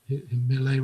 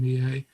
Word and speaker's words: Millet: When I've been there, that's why in Normandy they do call him Millet rather than Millet.